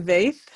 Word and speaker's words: Vaeth: And then from California, Vaeth. Did I say your last name correct after all you these did. years? Vaeth. Yeah. I always tell people rhymes with faith. I am Vaeth.